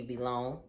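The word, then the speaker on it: Vlone: It should be V-Long because it's spelled V-L-O-N-E.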